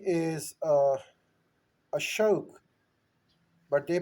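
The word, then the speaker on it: अशोक: So when the British arrived, they had a tendency of putting an A as a suffix in all of our names, in all of our titles.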